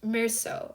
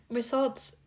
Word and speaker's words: Meursault: It is pronounced Meursault, I believe.